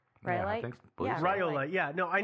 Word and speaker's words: rhyolite: I think that's how you pronounce that, right? Rhyolite?